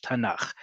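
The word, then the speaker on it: תנ״ך: far right okay so tanak for example is pronounced we treat This Acronym like a word and we pronounce it as such tanak and you notice where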